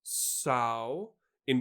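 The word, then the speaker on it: Samhain: Simeon which is pronounced sow in which rhymes with cow so it's actually so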